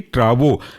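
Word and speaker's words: Travoprost: Spelling ऐसी होगी ट्रावो TRAVO, प्रोस्ट PROST।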